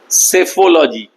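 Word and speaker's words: psephology: দেবমাল্যর কাছে সরাসরি প্রশ্ন, সেফোলজি কি? স্পেলিংটা লিখতে পারো, PACPHOLOGY, মানে প্রথম পিটার সাইলেন্ট।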